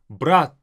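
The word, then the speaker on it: брать: The difference is in the very last t. Brat. More like a doll, not even almost heard sometimes, letter t. Brat. That's brother. Now, brat is to take. Now, this t versus t difference, you have to master it, you have to get it, but brat is brother.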